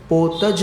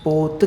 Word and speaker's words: पोत: वह पोत कहलाते और फिर पोत ज नहीं कहना पोत कहना जरायुज अंडज इन दो में ज है पोत में ज नहीं लगाना पोत है माने वो